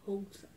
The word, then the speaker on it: Houston: Se escreve Houston. Com H-O-U-S-T-O-N, Houston. Na verdade, se pronuncia Houston.